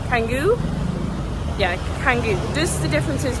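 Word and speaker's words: Canggu: I keep saying it wrong, but Changu Kangu.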